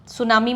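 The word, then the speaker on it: tsunami: वरशिप्ड बाय द सुनामी सुनामी में थी silent होता है जब भी समुद्र में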